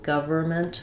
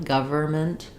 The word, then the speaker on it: government: Maybe, let's see, in government, we have the government. We tend to drop that N, government.